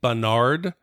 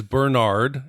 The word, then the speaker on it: Bernard: And then I'd also like to say I apologize for saying Bernard. It is Bernard, and I've been mispronouncing it.